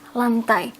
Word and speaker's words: lantai: LT atas LT bawah you don't pronounce it even though it's written LT you will just say it as lantai or floor in front